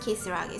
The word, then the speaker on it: Kisaragi: But it's pronounced Kisaragi, so it's not the same pronunciation as devil.